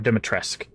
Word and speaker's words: Dimitrescu: Dimitrescu's necklace or Dimitresque, forgot to pronounce don't pronounce the U.